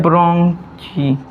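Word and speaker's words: bronchi: लोग का होता है ब्र की ब्रांग च य आप लोग का नया स्पेलिंग है ब्रांग देखिए ब्रांग च लिखा है लेकिन हम लोग इसको प्रोनाउंस करेंगे ब्रोंकी ठीक है देखिए ब्र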